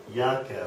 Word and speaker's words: Jacke: all right so uh anything with a J will sound like a y okay great the next